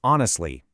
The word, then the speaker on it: honestly: Take honestly. That H is completely silent. If you pronounce it, you'll instantly sound unnatural.